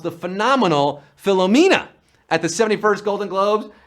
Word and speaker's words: Philomena: of the film that he was suffering from philomania. Well, that's how Leonardo DiCaprio pronounced the phenomenal Philomena at the 71st Golden Globes, and we're down to 24.